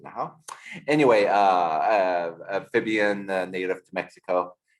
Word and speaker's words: Nahuatl: It's pronounced Asholo, because in Nahau, the language of the Aztecs, you don't pronounce the TL at the end. Hence, it's Nahuatl. That's how it's spelled, but you pronounce it Nahau.